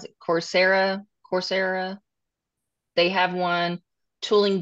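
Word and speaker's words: Coursera: it um cor is it cor I always mispronounce it corsera corsera they have one tooling U they have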